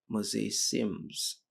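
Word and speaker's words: mosaicism: And this uh would indicate a mosaic mosaism if we uh it's it's it's called mosa mosaims something effect. So let me let me just spell it for you.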